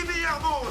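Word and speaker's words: Vuillermoz: On applaudit Alexis Villarmeau sur le podium. On prononce pas le Z.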